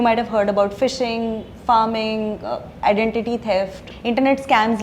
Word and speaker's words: pharming: You mentioned farming. Is it farming or harming? What is it? Yeah, so it's spelled as PHARMING, and yeah, so it's